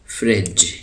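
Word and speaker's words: fridge: उसको कहते हैं प्रिंटर फ्रिज यहां पर जो डी है य साइलेंट है तो उसको हम पढ़ेंगे फ्रिज जी के बाद दोबारा ई आ गया तो इसकी आवाज हमने जेम निकाली फ्रिज book lamp lead ladder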